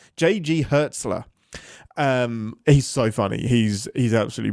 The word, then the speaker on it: Hertzler: Hertzlinger. Gosh dang it. How do you pronounce his name? J.G. Hertzler.